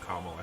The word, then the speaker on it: Kamala: I'm guessing it's a different Harris and not Kamala Harris. I will give Marsha Blackburn credit for one particular thing. She did pronounce Senator Harris's first name correctly. She did call her Kamala Harris.